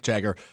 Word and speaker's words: Jagger: U just real quick from Matt Schneiderman Jagger Burton and he in parenthesis says it's pronounced like MC Jagger nicknamed Moose because of his long legs and stride as a youth football running back.